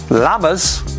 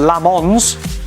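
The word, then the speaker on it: Lammens: Well, your your your pronunciation in the studio of Lamers was quite off tonight, guys. I'll have to say. Lamers. Lamers. Not Lamons. Okay.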